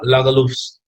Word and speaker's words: Lagerlöf: uh i'll just share selma lagalov's that is how you pronounce it the way it